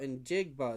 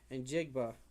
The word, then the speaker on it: Njigba: Oh, Injigba. There's a G there. Injigba.